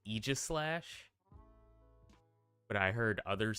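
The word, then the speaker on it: Yveltal: in this region apparently uh I was saying AIS slash wrong it's pronounced Eis slash but I heard others say excuse me AIS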